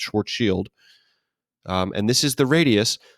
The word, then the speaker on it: Schwarzschild: called the Schwarzschild radius I know it looks like Schwarzschild but it is actually pronounced short shield and this is the